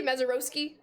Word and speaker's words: Mazeroski: It is Roski, Mezaroski.